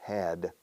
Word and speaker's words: had: Had, no, had. Es muy difícil, si no imposible, decir la D al final de una palabra.